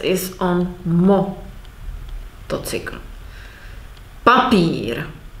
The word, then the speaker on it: papír: Papír. This is the example. We have stress on pa and elongation of the pír. Papír.